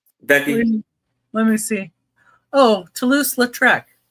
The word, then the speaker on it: Toulouse-Lautrec: To Tosafut. Tosalofu. How you say it, Becky? Let me see. Oh, Toulouse-Lautrec. Toulouse-Lautrec.